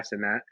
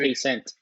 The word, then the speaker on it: Cenat: a lot is Kai Cenat. He's a Kai very big, Cenat. That's how you say his name. yeah, Kai Cenat. I was He's gonna a say very big, K Cent.